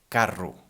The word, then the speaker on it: carro: For example, in the word carro. Carro is spelled C-A-R-R-O, and in this case, well, we said already in the first podcast, it's ro, no? This sound, the strong one.